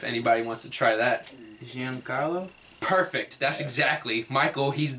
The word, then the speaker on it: Giancarlo: And the Miami Marlins dominant home run king who hit 59 home runs, Stanton, I can't pronounce his first name if anybody wants to try that. Giancarlo?